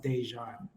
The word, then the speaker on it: Déjan: pronounce my name so my middle name is pronounced dejan my apologies no no it's okay dejan but i like that's